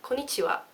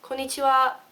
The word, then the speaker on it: konnichiwa: Okay, so konnichiwa, like that. You notice with the wa, I go wa, like that. That is very Japanese. You need to go wa, konnichiwa, like that.